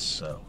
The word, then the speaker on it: sew: The word is sew. I know it's spelled S-E-W, but it's pronounced sew.